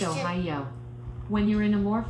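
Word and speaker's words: おはよう: head slightly as you say ohio which is pronounced oh yo when you're in a more formal situation or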